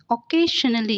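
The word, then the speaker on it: occasionally: next हमारा है ओजली ऑकेजनली इसमें क नहीं प्रोनाउंस करेंगे हम इसे ख से प्रोनाउंस करते हैं बट इसमें जो ख है वो बोलने में हम ख यूज करेंगे लेकिन क का यूज नहीं करेंगे सो ऑकेजनली मींस होता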